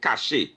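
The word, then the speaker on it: cache: This one is pronounced cash.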